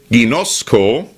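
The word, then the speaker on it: γινώσκω: das sind die Worte ginosco und euda genosco das schreibt man g i n o s K und euda schreibt man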